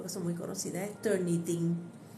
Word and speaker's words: Turnitin: La primera de ellas, muy conocida, las 3 yo creo que son muy conocidas, es Turnitin. Turnitin, Turn It In, en inglés, se escribe completo.